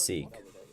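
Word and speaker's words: Sikh: knew about six um how do you that se seek pronunciation seek yeah it is seek homie okay I did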